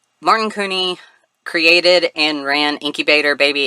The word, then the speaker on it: Couney: the hot deg episode I called him Martin Cony because I didn't know how to pronounce his last name uh c o u